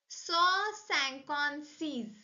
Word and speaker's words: cent cinquante-six: pronounced in French as saw sanon sees saw sanon se's saw means 100 sanon means 50 c means six so sanon C 156